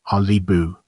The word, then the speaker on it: Qalipu: here the calip of First Nation pronounced alibu meaning Caribou is a